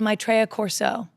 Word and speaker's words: Maitreya Corso: - Oh, new album's called Maitreya Corso. - The, the pronunciation of Maitreya is what scares me, but Maitreya Corso.